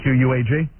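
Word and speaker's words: Quogue: You spell it Q-U-A-G? That's misspelling. Spelling. Yeah, these guys screw me up every day. It's Q-U-O-G-U-E, isn't it? Yeah, that would be Quag. Right. But what they have there is Quag, Long Island.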